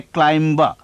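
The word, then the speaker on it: climb: ना के 7539 में क्योंकि हम नहीं कहते क्लाइम जैसे हम नहीं कहते बंबा यहां प्रोनाउंस नहीं होता लास्ट ब सिर्फ 93 और बस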